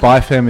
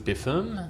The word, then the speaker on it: BIFEM: music great acronym isn't it I love it by fam is the preferred pronunciation well look originally I thought it was Biffen yeah a bit has become by from because